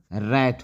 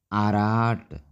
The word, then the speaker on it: rat: सही उच्चारण रैट होगा। लेकिन इस रूप में देखेंगे आर, हम पढ़ते हैं आर, तो अराट, इसको पढ़ना चाहिए आराट, जो कि गलत है। सही है रैट।